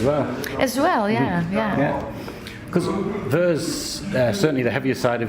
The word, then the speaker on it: Vuur: And this is too, as you said, with your new band, Vuur, is that how you pronounce it?